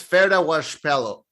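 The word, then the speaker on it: Ferdia Walsh-Peelo: His name is Ferda Washpelo.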